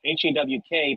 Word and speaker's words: Haugh: and it was Andrew, Hawk, but in 1863 it was Haugh. So even in 1860 he pronounced it hawk like a bird with a K, you know, because that's